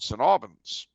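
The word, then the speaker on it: St Albans: from there is a town called sinabens it's saint albans is a charming cute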